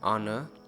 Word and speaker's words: honor: And sometime H is not pronounced in the several words. Just remember the article an is used in consonant sound. Honor, our, honest, air.